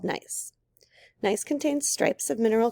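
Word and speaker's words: gneiss: famous rocks nice morton nice pronounced nice as among the oldest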